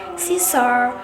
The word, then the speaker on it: scissor: For example, scissor.